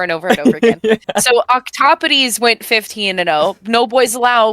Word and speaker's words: Octopodes: Yeah, Octopodes. Octopodes. Yeah. I'm gonna need to say that over and over and over again. Yeah. So Octopodes went 15-0.